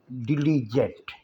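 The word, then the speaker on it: diligent: और हमारा लव्स है डिलिजेंट डिलिजेंट डिलिजेंट जी यहां जींद जैसी आवाज देगा आर्टिफिशियल स्टूडेंट वह लड़की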